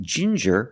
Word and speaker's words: ginger: you have different pronunciations with ginger we use the J sound like juice and jump J and the regular N Ginger Ginger people like